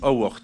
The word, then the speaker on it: Howard: Madame Carole Howard, s'il vous plaît. Je prononce à l'anglaise parce que madame est anglaise.